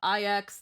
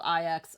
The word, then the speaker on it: IX: Uh IX the Nihility is pronounced more like okay. So, not nine.